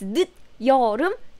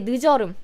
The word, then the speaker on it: 늦여름: Though some Korean people still say 늦여름, 늦여름. So people will understand, but the correct pronunciation is 늦여름 because we want to emphasize 늦 and 여름 separately.